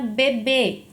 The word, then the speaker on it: bebê: Na palavra bebê, a sílaba tônica é o segundo B.